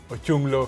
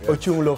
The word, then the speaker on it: Ochunglo: Is it Ochunglo? Ochunglo. Yes, Ochunglo family.